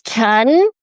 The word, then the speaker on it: Chen: actually in Chinese, it's pronounced. Huh. And it's Chen.